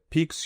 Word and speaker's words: piques: This is a word like peak.